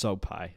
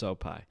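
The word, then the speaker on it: Sopaj: got Ricky turos and Bernard soai yes that's pronounced soai I looked it up it's pronounced soai so um Ricky only won two out of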